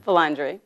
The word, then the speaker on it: Vilandre: Vilandre.